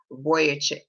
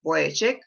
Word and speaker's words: Vujicic: It's spelled Vujicic, but I believe it's pronounced Vujicic. And if you're familiar with